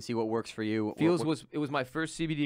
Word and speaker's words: Feals: And it's spelled F-E-A-L-S, not F-E-E-L-S, Ross. F-E-A-L-S. F-E-A-L-S. Feels.